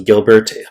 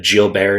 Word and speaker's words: Gilbert: __ ] answer okay so Gilbert but Jill Bear is how you actually pronounce it this is just going